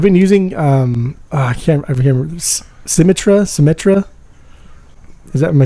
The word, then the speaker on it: Symmetra: I've been using I can't remember Symmetra.